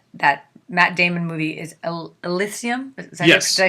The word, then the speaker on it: Elysium: So I had read that I'm pronouncing that Matt Damon movie is Elysium.